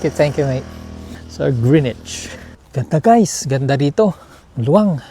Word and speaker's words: Greenwich: And may I ask you what is the right pronunciation of this park? This park? Yeah. Greenage. Greenich. Thank you. Thank you mate. So Grenich.